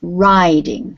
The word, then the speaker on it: riding: This is riding. Riding, okay. Riding. Very long sound for the I, riding.